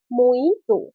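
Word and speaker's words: mojito: সঠিক উচ্চারণ হবে মইতো।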